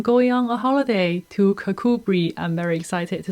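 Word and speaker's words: Kirkcudbright: whole time apologies apologies it's not kirk curt bright it is actually kakubri who can tell but anyway i am going on a holiday to kakubri i'm very excited to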